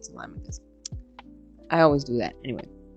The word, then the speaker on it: Telemachus: In fact, yesterday my nephew got on my case because I said Telemachus instead of Telemachus.